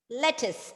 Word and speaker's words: lettuce: Lettuce, exactly. Lettuce. So, correct, Shane. It's lettuce because even if there is a U there, the U is not pronounced.